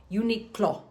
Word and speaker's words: Uniqlo: Uniqlo.